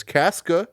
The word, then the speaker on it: Casca: It features Rachel Ziegler as Lucy, Tom Blythe as Snow, Peter Dinklage as Casca.